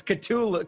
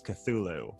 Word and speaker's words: Cthulhu: ctulu i am i i'm not pronouncing right it's cthulhu it's cthulhu but the great thing about lovecraft is that he didn't settle on a spelling or pronunciation during his life so you can pretty much say anything but the pretty much standardized uh pronunciation is cthulhu mm-hmm and and what